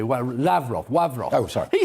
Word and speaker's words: Lavrov: with mr ra lavrov now i'm pronouncing the russian way lavrov wavrock oh sorry he